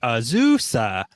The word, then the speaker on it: Azusa: Someone commented on something that we posted explaining the proper way to say it is like an old bicycle, like Azusa.